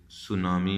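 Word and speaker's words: tsunami: इसी तरीके से TS से सुनामी आप बनाते हैं, दिस इज। सो इस तरह ये साइलेंट हो जाते हैं लेटर्स।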